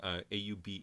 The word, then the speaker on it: Auberjonois: And that was the late Rene Auberjonois. I'm going to pronounce his name, Auberjonois. That's very French.